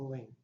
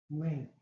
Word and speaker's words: lien: Lien, unless you spell it L-E-A-N.